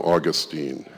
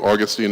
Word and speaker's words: Augustine: it is to Augustine the Brits for some reason love to emphasize the second syllable on any Greek word really think